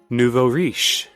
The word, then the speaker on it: nouveau riche: Nouveau riche.